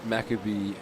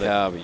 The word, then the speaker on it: Maccabi: Maccabee Athletics Club. I don't know if Maccabi, there we go. We got Maccabi, thank you. I butchered that.